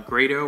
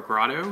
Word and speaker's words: Grado: the shop we sell grado or grotto however you want to pronounce it and um we